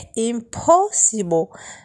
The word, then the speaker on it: impossible: النطق الصحيح impossible.